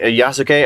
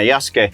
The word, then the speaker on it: Yasuke: I see that yasuke yasuke I think is how you say his name yeah yasuke I see that Yas